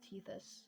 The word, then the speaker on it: Tethys: So yeah, now we exit the sphere of influence of Teus. Teis, I don't know how you pronounce that.